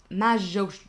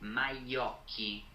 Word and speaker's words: Majocchi: captured by Jean Alessandro Majoshi. You're gonna make me pronounce names in this episode, aren't you? Majocchi. Wow, that's not how I was saying that.